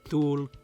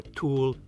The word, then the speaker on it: Thule: of the inhabitable world how to pronounce dul or tul or tule is as debated as the origin of chile itself its name too was